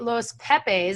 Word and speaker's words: Los Pepes: So in the Netflix series, they highlight Los Pepes. I think I'm pronouncing that right?